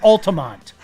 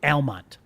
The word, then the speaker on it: Almont: 502 miles from Altamont. Altamont. I'm doing that on purpose now. Forget it. I'm never even going to pronounce it the right.